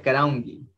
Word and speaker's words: karaunki: Acá le aumento el karaunki, que se pronuncia karaungi, ¿sí? Pero este K de aquí se va a pronunciar como la G de gato.